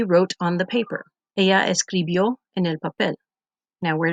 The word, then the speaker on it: escribió: We added the ending from the chart, which is IO, with the accent on the O, and we got escribió.